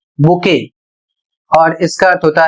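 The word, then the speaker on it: bouquet: अगला शब्द है बी ओ यू क्यू यू ई टी और इसे पढ़ा जाएगा बुके और इसका अर्थ होता है फूलों का गुच्छा।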